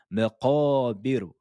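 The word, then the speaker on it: مقابر: Donc, la lettre ra sera amincie. Elle sera aiguë, prononcée de façon aiguë. Là, avant, juste avant, ici, on l'avait prononcée de façon grave. Mais ici, maqabiru, maqabiru, hatta zuru, zuru.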